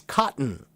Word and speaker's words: cotton: So the first half of the letter T is the part that has the strong T t sound. But what if I take that part off? Now the word cotton becomes cotton.